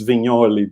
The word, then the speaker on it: Vignoli: That's why it's Vignoli, because it's like Mike Mignola, no? Like that's how you pronounce it.